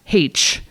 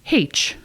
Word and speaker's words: Heche: Also, her last name is pronounced Heche, which I had never heard before, but we confirmed with her before.